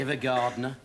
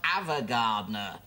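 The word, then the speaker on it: Ava Gardner: Evergardner. Avergardner. It's pronounced Avergardner.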